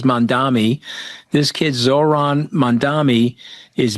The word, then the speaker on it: Mamdani: And this kid, and I don't want to pronounce his name wrong, but I think it's Mamdani.